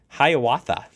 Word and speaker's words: Hiawatha: check this out and Scott how do you pronounce this train Hiawatha the Amtrak Hiawatha hey maybe he's wrote it before I don't